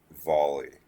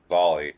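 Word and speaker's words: Volii: in space and you want to go to volley I know it says Vol 2 but it's actually pronounced volley according to everyone lives there so it says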